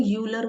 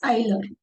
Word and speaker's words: Euler: अब देखो, इसको है ना कई लोग यूलर बोलते हैं, ठीक है, बट इट्स नॉट a correct pronunciation, it's आइलर। ठीक है, ये ध्यान रखना है। बिकॉज सभी यूनिवर्सिटीज में ना, इवन फॉरेन यूनिवर्सिटी में इसको आइलर ही प्रोनाउंस करते हैं। सो यूलर कहने से कुछ जाएगा नहीं, but correct pronunciation is आइलर होता है।